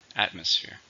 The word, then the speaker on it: atmosphere: situation it's a noun how many syllables are in atmosphere three stress on the first atmosphere the atmosphere in the